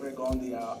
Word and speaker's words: Rigondeaux: He pronounces it Rigondeaux. I like to say Rigondeaux. Most people say Rigondeaux.